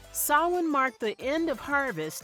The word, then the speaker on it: Samhain: In the ancient Celtic festival of Samhain, pronounced Samhain. Samhain marked the end of harvest and the beginning of winter, the darker half of the year.